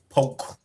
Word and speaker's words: Polk: You got to say it right. Polk. Yeah. Now that case silent. It's Polk County.